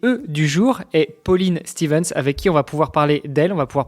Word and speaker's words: Stevens: Donc pas l'anglaise quoi, c'est pas Stevens, c'est c'est Stevens.